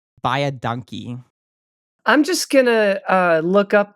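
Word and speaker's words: baie dankie: And then the way you say thank you very much, for instance, is very easy. Imagine the saying buy a donkey and then just sort of like flatten the vowels. And it sounds like buy a donkey.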